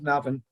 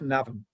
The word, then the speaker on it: Navan: historical Boyne Valley, where our Rotary Club of Navan resides. To introduce myself, is my name, and I am a member of the Rotary Club of Navan.